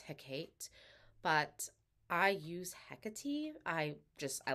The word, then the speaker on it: Hecate: Hecate but I use Hecate I just I like that pronunciation best and uh according to my research it's also the more Greek pronunciation of the name so that's the one